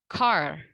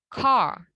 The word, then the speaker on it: car: Misalnya car. Ini kan kalau dalam American English, mobil itu di-pronounce-nya sebagai car, ya. R-nya masih tetap kedengaran. Tapi in British English, pronunciation untuk kata ini adalah car, gitu. Car. Jadi R-nya itu tidak dibaca dengan jelas.